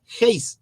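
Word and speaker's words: εἷς: momento compañero dijo a no es he es he con j encima de la épsilon hay una comita al revés Y esa comita es un espíritu áspero y tiene una leve pronunciación como una jota entonces ahí decía heis y la palabra heis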